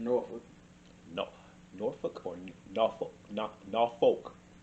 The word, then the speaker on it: Norfolk: Norfolk. It's Norfolk. Norfolk. Yeah. Okay. You're from here. You know how to pronounce it.